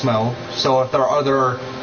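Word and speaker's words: Smough: And before anyone tries to correct me, I did look it up, and Smo is the proper way to pronounce it.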